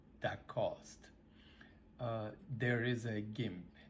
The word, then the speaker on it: GIMP: There is a GIMP. It's spelled GIMP.